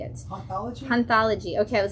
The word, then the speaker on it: Hanthology: Hanthology.